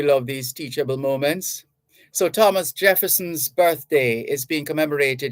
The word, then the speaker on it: Thomas: no need to say Thomas that doesn't exist in the real it's Thomas the H is silent saming for t-h-o-m-p-s-o-n it's